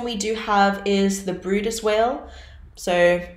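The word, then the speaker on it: Bryde's: So our first one we do have is the Brutus whale. So it's spelled b r y d e s.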